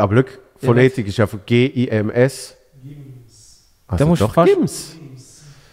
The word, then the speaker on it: Gims: Gims.